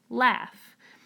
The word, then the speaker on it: laugh: through this last column, we actually had a word that was spelled with AU that does not make the ah sound, it makes the ah sound, the word laugh. So when I say laugh, I hear l, ah, ah.